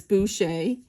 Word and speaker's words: Boucher: It is spelled Boucher, okay, but it's Boucher.